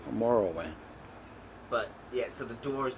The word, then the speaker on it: Morrowind: How you pronounce it? Morrowind. Morrowind.